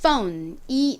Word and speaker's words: phone: 그러면 이 단어의 발음은 phone이 되죠. 전화기는 phone입니다. 자, 발음 한번 따라해 볼게요. th 발음에 주의하시면서 해보겠습니다. phone. 한 번 더. phone. 좋습니다. ph는 무슨 발음이 난다고요? f와 같은 f 발음이 납니다.